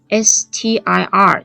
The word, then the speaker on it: stir: 4 的非常卷的例如 STIR 这个字，stir，可能有同